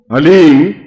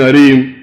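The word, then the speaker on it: ह्लीं: वो बोले ओम हलीम, बस ये हलीम शब्द बहुत ध्यान से उच्चारण करने देना है, HALEEM, हलीम। कोई बोले हरीम, कोई बोले हीम, तो कुछ फायदा नहीं होगा।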